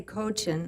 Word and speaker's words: Kochan: I'm supposed to say Kochan. I can't get used to it because I speak Russian.